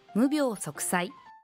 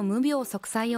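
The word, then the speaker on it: 無病息災: 無病は長音で発音しましょう。お客様の無病息災を願っています。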